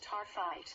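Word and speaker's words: Taaffeite: Taafet, pronounced tarphite, is named for Australian gemologist Richard Taafet, who discovered a cut and polished specimen of the stone in 1945.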